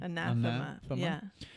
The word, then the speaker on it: Anathema: But you sent us the right pronunciation, Anathema. Right? Is that correct? so. Because of the A, Anathema.